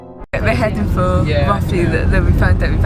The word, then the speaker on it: Rothley: heading for Rothley that we found out we've actually been pronouncing it wrong, and it's Rothley.